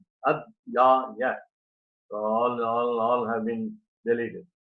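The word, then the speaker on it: अध्याय: Again I told you, in order to be very brief, in order to just compose 8 syllables per quarter, the word Adhyaya having 3 letters, Ad-ya-ya.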